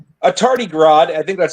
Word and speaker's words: tardigrade: And he's actually a u a tardigrad. I think that's how you pronounce it. In a suit. Tardigrade in a mech suit. Tardy grade. Yeah, that's how you pronounce it.